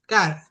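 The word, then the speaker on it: χαρά: Gozo que en griego es cara, cara. No se escribe chara, pues se dice cara, ¿no?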